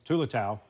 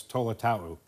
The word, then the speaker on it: Tolotau: Okay, the one thing I learned this past week, at East we call him Tulatau. And now we got the memo. It's Tolotau.